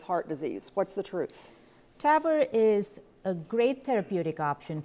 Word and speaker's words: TAVR: Okay, last myth, and I'm gonna confess, I'm not sure how to pronounce this. Is it TAVR? TAVR, yeah.